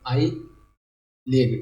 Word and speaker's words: IHLEG: तो ये रिलीज़ किया है IHLEG, ठीक है, आई लेग, ठीक है, आई लेग, एच साइलेंट ईयर बोल सकते हैं ऐसे, अगर आप याद करना